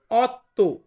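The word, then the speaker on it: otto: আছে আট আট কে আমরা ইতালিয়ান ভাষাতে বলব অত্য অত্য মানে হচ্ছে আট নয় নয় কে আমরা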